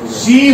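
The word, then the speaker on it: she: masculine या इसे आप मेल भी मान लो शी हो गया वह प्रोनाउंसिएशन क्या है शी शी क्या है शी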